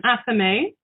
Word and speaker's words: athame: a knife called a ceremonial knife called an athame a wand a pentacle and a chalice but